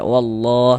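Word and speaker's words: والله: tanda baca fathah nih maka lafaz Allahnya dibaca tabkhim dibaca tebal sehingga kita baca wallah seperti itu.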